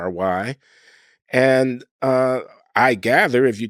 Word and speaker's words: Loury: My name is Loury, spelled Loury, but pronounced as if it were Lowery.